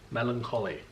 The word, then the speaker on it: Melancholy: Not Connie. Collie. Melancholy.